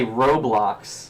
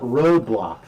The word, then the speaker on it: Roblox: sucker roadblocks blocks like you were trying to say Roblox yeah I call it roadblocks oh oh wow the